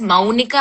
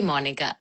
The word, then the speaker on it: Monica: చాలా మంది పేరు people actually say it as Maunika and not Monica, but my name is actually Monica.